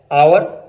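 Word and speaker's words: hour: शुरू में जब H आता है तो वो प्रोनाउंस नहीं होता। मसलन आवर, honest, ऑनर, hair, herb.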